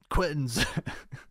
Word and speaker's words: Queens: If you didn't know, that's the proper pronunciation of Queens, bro. Quenz.